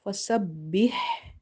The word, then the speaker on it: fasabbih: Again, try to pronounce the ha from the middle of your throat. And in order to do so, you have to make your mouth wide open and exhale the air out.